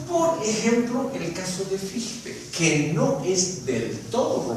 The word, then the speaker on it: Fichte: el noble idioma alemán la CH se pronuncia con una J española cuando está sola, así como está ahí en Fichte.